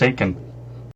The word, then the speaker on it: Aitken: They said Aitken and Karlsson, and now I know how to pronounce his name. It's Aitken.